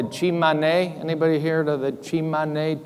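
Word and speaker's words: Tsimane: Anybody here to the Chimane? T-S-I-M-A-N-E. I think that's the proper way you pronounce it.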